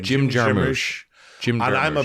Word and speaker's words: Jarmusch: Jim Jarmusch.